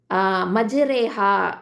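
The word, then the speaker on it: مجراها: மஜ்ரேஹா அப்படின்னு தான் நம்ம உச்சரிக்கணும். அதில் ரா வந்து ஃபத்ஹா இருக்கும், ஆனால் அதை மஜ்ரேஹான்னு தான் சொல்லுவோம். மஜ்ராஹா அப்படின்னு நம்ம சொல்ல மாட்டோம்.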